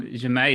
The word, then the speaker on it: Jamais: I really love the new song Jamais. Is that how you say it? Yeah, that's right.